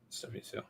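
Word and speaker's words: Hsu: And I'm pretty sure we're pronouncing her last name wrong. I think it's Stephanie Sue.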